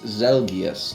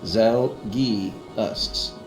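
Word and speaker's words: Zelgius: only returning the favor it's zelus Nazi say it with me zelus it's a hard G something hard to get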